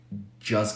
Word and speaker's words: just: to notice that it's very common to drop the T in just when the next word starts with the consonant so you can say just got a job just just got a